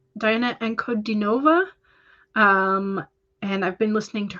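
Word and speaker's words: Ankudinova: It's Diana Ankodinova.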